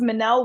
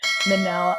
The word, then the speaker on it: Minnelle: yes my name is Manel Williams think of Michelle but with two ends for those who see it and forget how to say it Manel I am a licensed